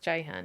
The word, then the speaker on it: Ceyhan: y h a n which is actually pronounced Jan even though it's a